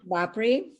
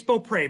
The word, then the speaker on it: Beaupre: So on the ballot are Bopry, Robert. Did I pronounce that correctly? It's Beaupre, but Beaupre.